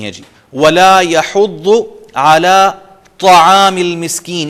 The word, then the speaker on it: طعام: وَلَا يَحُضُّ عَلَى طَعَامِ الْمِسْكِينِ, یہاں تا نہیں کہنا, طعام المسکین, اور یہ شخص رغبت نہیں دلاتا مسکین غریب کو کھانا کھلانے کی.